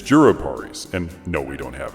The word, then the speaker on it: jurupari: Anyway, I love juruparis. Always have. When I was a kid, my dad called them japaris, and I didn't learn the correct way to say it until like 3 years ago.